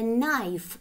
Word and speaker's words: knife: A knife – друзья. К, н, к не читается.